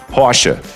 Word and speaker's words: Porsche: The E at the end of the word is not silent. Silent letters are not really common in German. And the R sound after a vowel is generally an A sound. So it goes Porsche.